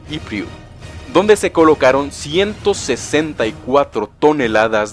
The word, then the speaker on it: Ypres: Sí, ya sé que se escribe Ypres, pero se pronuncia Ypres.